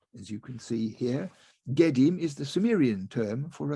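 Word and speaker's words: gidim: So in the Sumerian language, this is pronounced Gedim, as you can see here. Gedim is the Sumerian term for a ghost, and the Akkadian term is Etemu.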